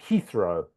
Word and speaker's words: Heathrow: It's a h sound. Heathrow.